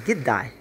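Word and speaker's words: g'day: the common australian phrases good day would sound a lot like did die so instead of hearing the word good day you'll only hear the word the pronunciation giddai okay in this case will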